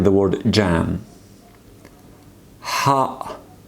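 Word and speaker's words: ح: Ha, just like English letter H, but you need to just pronounce Ha. Just try to squeeze your throat and just say it.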